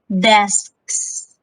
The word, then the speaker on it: desks: hear me i haven't i'm sounding it twice because for this one desk is already desk but there is a plural word is additional s so you have to pronounce desks in order for you to emphasize that you are meaning the sets